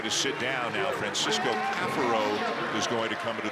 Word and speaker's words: Caffaro: And yes, it is Caffaro. For years it's been Gaffaro, but we have been told that this year, people who have watched Virginia games know this, that the pronunciation that he would prefer is Caffaro.